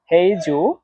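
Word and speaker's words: 合作: এখানে দেখেন হেই এই শব্দটাতে চাইনিজের 2 নম্বর টোন ব্যবহার করা হয়েছে। আর 2 নম্বর টোন উচ্চারণ নিয়ম হচ্ছে নিচ থেকে উপরে, হেই, হেই, এটা এইভাবে উচ্চারণ করতে হয়। তারপরে জু, এটাতে চাইনিজের 4 নাম্বার টোন ব্যবহার করা হয়েছে। 4 নাম্বার টোন উচ্চারণ নিয়ম হচ্ছে উপর থেকে নিচে, এটা জোরে নিচে নামা।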